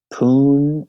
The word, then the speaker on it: Pune: And there are some people, I just got a message today from somebody in Pune, I think that's how you say it, Pune, India?